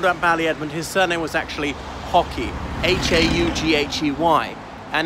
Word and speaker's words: Haughey: So Lord Ballyedmond, his surname was actually Hockey, H-A-U-G-H-E-Y. And now in Ireland, we usually pronounce it Hockey, but apparently his family pronounced it Hockey, like the sport.